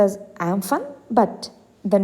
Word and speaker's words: Amphan: this cyclone sarga cyclone it is pronounced as amphan but the name is given by thailand in thai and this word is pronounced as umpu so cyclone is a super cyclone formed over